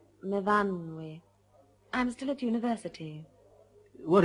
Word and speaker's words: Myfanwy: No, Myfanwy. We pronounce it Myfanwy.